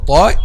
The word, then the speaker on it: ط: Actually, one of the common mistakes when pronounced letter ta is making letter ta a light letter, and it's actually a heavy letter, not a light one.